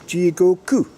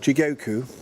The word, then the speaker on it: Jigoku: And it's Jigoku, not Jigoku. Which of course I'm saying Jigoku because that's how one would say it if one was from the aristocracy. But it's Jigoku.